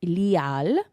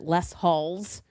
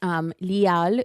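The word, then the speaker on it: Les Halles: It's called Lial. I hear a lot of Americans pronounce it Les Halls or Les Halls. Les Hall. But it's Lial Boulangerie et Pâtisserie.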